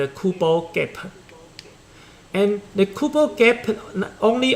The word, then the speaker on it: Kubo gap: the kubo kappa okay let's plant the pronunciation of these two uh these two words very similar cooper gap and kubo gap and the kubo gap